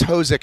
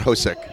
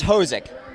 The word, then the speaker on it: Hosek: By the way, it is Hosek, not Hosek. Many pronunciations have been butchered over the years. Able to get it right? It's Hosek.